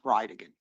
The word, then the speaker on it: Bridegan: It's Jared Gallen Bridgen. And I'll represent to you that it's pronounced Ryigan.